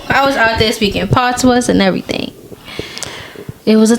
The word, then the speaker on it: patois: because the S is silent, like patois.